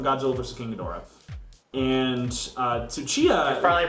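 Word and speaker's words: Tsuchiya: Mr shindo from Godzilla vers kadora and uh suchia finally pronouncing his name correctly I am aren't you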